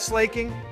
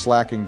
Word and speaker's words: Slaking: have PTSD from that slaking it's pronounced slacking Donald but yeah it